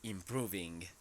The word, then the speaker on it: improving: And just be careful with the pronunciation of this verb. It is the verb improve, and here you have to say improving. Improving.